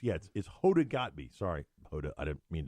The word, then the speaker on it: Hoda Kotb: go too hot beat no it's yet is Hoda Kotb sorry Hoda I didn't mean to get your name wrong there just once you get American name